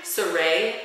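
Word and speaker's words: Sarai: should go how do you say her name sarey Walker can you spell it sa Rai Oh wal okay it's like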